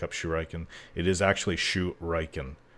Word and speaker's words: shuriken: shuriken it is actually shu reichen it's a japanese word as far as i